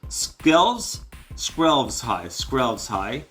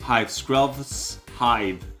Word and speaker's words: Skrelv's Hive: Okay, Tainted Observer 132, Voidwing Hybrid 73 cents, Venser Corpse Puppet 19 cents, Skrelv's high. I knew it. Hive, Skrelv's hive. I said it wrong twice.